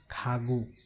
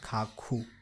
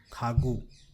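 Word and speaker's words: 가구: So it will be pronounced as Khagu, not Khakhu, Khagu.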